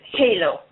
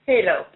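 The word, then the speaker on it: Heylo: This is Halo. Halo? Yeah, H-E-Y-L-O is how it's spelled. Yes, Halo.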